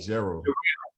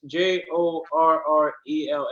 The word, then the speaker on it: Jorrell: Gerald. It's JORRELL, man. Jarrell.